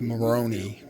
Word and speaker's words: Moroni: a i believe it's actually pronounced moroni as in holy moroni this morning it no